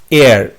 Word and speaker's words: heir: Question number 7, feminine gender of এয়ার। HEIR, এখানে হেয়ার উচ্চারণ, এয়ার, ওকে, HEIR, এয়ার উচ্চারণ হবে।